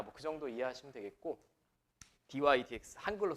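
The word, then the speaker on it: dy/dx: 오른쪽에 dydx라고 읽는다. dx분의 dy가 아니라 dy dx라고 읽는다.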